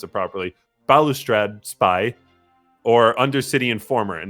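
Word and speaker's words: Balustrade Spy: graveyard either by bubble spy or i'll just pronounce it properly balustrad spy or undercity and former and now when those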